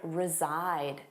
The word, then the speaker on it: reside: Let's review live and reside. Do you know this one? Notice that pronunciation. Resside. Zside. The voiced sound reside.